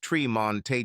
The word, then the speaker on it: Tremont: brothers, Fremont, pronounced Fremonte, and Tremont, pronounced Tremonte Jones.